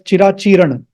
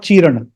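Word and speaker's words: चिराचीर्ण: A piece of caution, please don't pronounce it as cirācīrṇa. It is not chirana, not chirana.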